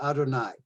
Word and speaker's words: Adonai: basically what they did even though in the torah it is written as hey we pronounce it adonai there is another instance